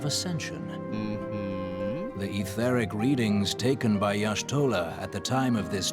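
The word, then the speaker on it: Y'shtola: know of etheric behavior let's do it it's pronounced yashtola all right it was i thought it was ishtolah let us begin at what some might call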